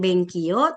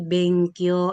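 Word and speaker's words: 勉強: Todes ben ky u benkyo ya bukan ben ki you bukan benki bukan dan tidak ada artinya dalam bahasa Jepang ya bukan benkio tapi benkyo artinya belajar.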